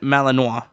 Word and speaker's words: Malinois: is lubo a Belgian Malinois oh okay okay here go is that how you say it Malinois yeah Malo sure Y Man